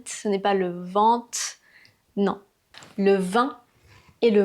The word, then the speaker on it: vent: Voici le vin et voici le vent. Je répète : le vin, le vent. Donc, ce n'est pas le "veeen", ce n'est pas le vin, ce n'est pas "le vent".